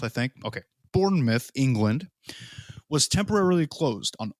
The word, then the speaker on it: Bournemouth: uh boscom beach in bournemouth is a mouth or myth i think i'm gonna say myth right cause like dartmouth but it's spelled mouth i think okay bournemouth england was temporarily closed